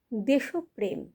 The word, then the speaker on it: দেশপ্রেম: সচরাচর ভুল করে থাকি যেমন দেশপ্রেম দেশ আর প্রেম মিলিয়ে হচ্ছে দেশপ্রেম আমরা এটিকে অনেকেই ভুলবসত উচ্চার করে থাকি দেশপ্রেম দেশনায়ক আমরা এটিকেও ভুলবসত